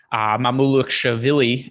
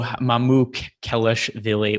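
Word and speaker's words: Mamukelashvili: Sandro Mamouloukshavili. I'm almost positive I'm saying. I'm actually not totally positive I'm saying it right, but I do my best. I actually listened. I listened to the Nets play the Bucks yesterday on the radio, and it was Mamouloukshavili.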